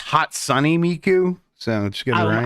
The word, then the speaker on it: Hatsune Miku: Okay, It's actually pronounced Hot Sunny Miku.